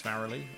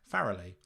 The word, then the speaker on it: Farrelly: So it's with me, Farrelly, not Farrelly, not Farley, not Faraday, not Farrell, not. None of those, right? Farrelly.